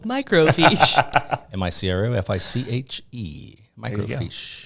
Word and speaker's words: microfiche: I've had all that I like your pronunciation pronounce I can't even say that the uh microfiche spell microfiche am I cro f-i-c-h-e microfiche somebody you probably say Michael fish micro fish macro fish actually you gotta get that on